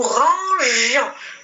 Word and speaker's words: rangions: Déjà, avec la lettre I, je prononce, il y a le son je.